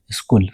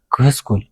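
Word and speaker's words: school: ክነስተውዕሎ ይግበአና rule 5 H is silent after C ድሕሪ C H silent ይኸውን ኣብዚ ምስዑ ቃላት ይብለና ኣሎ ንኣብነት ኬሚስትሪ ክንብልና ሃለና ኬሚስትሪ ኣይኮንናን ስኩል ክንብልና ሃለና ክስኩል ስኩል ኣይኮንናን ስለዚ H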